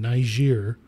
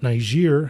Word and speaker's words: Niger: Basically, what has happened recently is in Niger, the That's French. Not how you pronounce it? How do you pronounce it? don't you make me? You can't say it with an A.